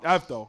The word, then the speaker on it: Avdol: Avdol, yeah.